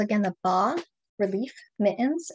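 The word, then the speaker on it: bas-relief: They're called, again, the bas relief mittens, and bas is a French word. It's spelled B-A-S. So I do sometimes hear people calling them bas relief, because that's how you might read it if you don't know the term.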